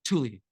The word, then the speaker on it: Tuli: But it's like a quick Tuli.